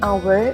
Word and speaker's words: hour: apple an elephant an hour here the h is silent okay and an umbrella